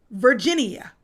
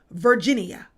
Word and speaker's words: Virginia: First of all, Virginia. That's right. I gave it an extra syllable. Virginia.